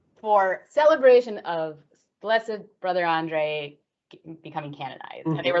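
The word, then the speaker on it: André: I say Saint Andre.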